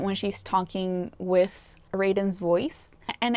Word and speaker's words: Raiden: And then for Raiden, his name is pronounced Raiden.